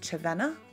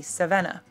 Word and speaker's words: Červená: Now, Cervena is actually pronounced Cervena when it's got the accents on it. But when I put that online and that, people kept calling me Cervena because they didn't understand that the accents would make it into a ch.